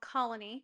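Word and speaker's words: Colonie: We decided to go to one of my parents' favorite restaurants on um Atlantic Avenue called Colony. Colony is excellent. It's spelled C O L O N I E.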